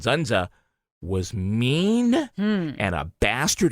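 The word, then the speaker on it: Dzundza: But according to the rest of the cast, Zunza, spelled with a D is silent, Zunza, was mean and a bastard and very difficult.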